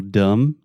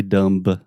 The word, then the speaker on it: dumb: For example, dumb. Dumb. You don't say dumb. No, you are dumb. Yeah. So there's a B in the word dumb, but we do not pronounce it.